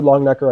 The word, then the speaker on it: Longenecker: Um anything by Bruce Longnecker. Um hold on. Isn't it you probably have it. Isn't it Richard Longenecker? Uh, Richard Long Necker, I think, is his dad.